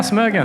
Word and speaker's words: Smögen: And so we know Per, we know Smögen. Okay. Hope I'm pronouncing that correctly. Yeah, Smögen.